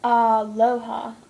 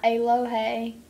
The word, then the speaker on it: aloha: A is pronounced ah. Like aloha. Ah. Not aloha. Aloha.